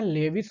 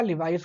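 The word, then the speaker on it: Levis: अब इसको आप चाहे लेविस कहें या लिवाइस कहें, there is no matter. Matter करेगा, आपको इसका नाम याद रखना चाहिए बस। चाहे लिवाइस पढ़िए, लेविस प्रोनाउंसिएशन डिफरेंट हो सकता है।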